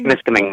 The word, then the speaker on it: Temiskaming: How do you pronounce the name of that lake? Temiskaming? Temiskaming Lake.